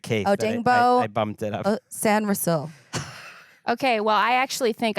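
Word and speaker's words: Sainristil: Or maybe actually now that I remember that you mispronounced Mike Sanil. Actually, I'm going to go three. San Ril.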